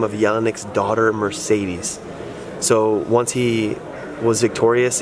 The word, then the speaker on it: Mercedes: But the real pronunciation is... Mercedes.